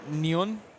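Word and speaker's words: neun: German is very fanatic so it's nun you got to say it with a with a German accent sure don't well now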